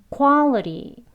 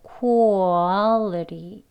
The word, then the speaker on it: quality: 그래서 quality가 아니고 quality라고 발음이 되어지는 거예요. 한번 해볼까요? quality. 네, quality 이렇게 발음되어집니다.